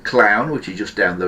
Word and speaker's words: Clowne: This is on the extension for a place called Clown, which is just down the road from me here, but that is on the Clown exchange, which is, Clown is a village.